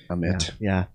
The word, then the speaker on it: Ahmed: Ahmed. No fancy wording or pronunciation there. Just Ahmed, just like you would say it in English.